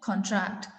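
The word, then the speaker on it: contract: So then we will pronounce it कॉन्ट्रैक्ट। तो हम CON जो फर्स्ट है सिलेबल उस पर ज्यादा स्ट्रेस दे रहे हैं।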